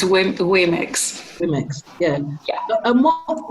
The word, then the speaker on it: womyx: And I just want to go back to the womyx, because I didn't even know how to pronounce that. So can you tell me that again? Sorry. It's womyx.